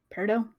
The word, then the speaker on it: peridot: Peridot? However the heck you pronounce it.